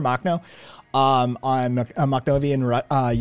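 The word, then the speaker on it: Makhno: uh ukraine uh nestor mock um that's not how you're supposed to say his name i don't think you correct ukrainian pronunciation cats corrected me on the correct ukrainian pronunciation but nestor machno um on a macdover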